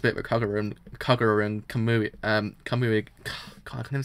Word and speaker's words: Kamui: I don't need to actually see how I've actually pronounced his name correctly. It's one of those ones that always gets me sometimes. Yeah, Kamui.